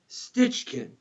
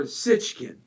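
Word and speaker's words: Sitchin: So there was a guy, his name was Zachariah Sitchkin, or Sitchkin. It's pronounced either way.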